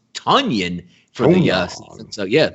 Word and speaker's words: Tonyan: we now know is not tanyan it's tonyan for the uh so